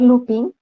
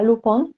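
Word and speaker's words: Lupin: reunían es el bar looping bueno se pronunciaría lucón porque es un nombre francés y todavía está abierto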